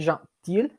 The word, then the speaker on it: gentille: We have gentil and gentille. Gentil is the masculine form. We don't pronounce the L at the end. Gentille, we do pronounce the L at the end.